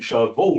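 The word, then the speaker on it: chevaux: Mr K's units as c h e v a ux in your witness statement which will be shvo rather than sh right but and what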